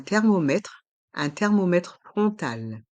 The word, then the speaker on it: thermomètre frontal: Un thermomètre frontal. Un thermomètre frontal. Dans le mot thermomètre, le H est muet. Il ne se prononce pas. Et les lettres O et N font le son on. Rond, frontal.